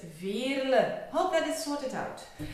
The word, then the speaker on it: Veerle: And it is a typical Flemish name. So it is pronounced Veerle. So not Veerle or Veerle, it's Veerle.